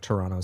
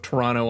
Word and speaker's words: Toronto: Like, I didn't pronounce the T's.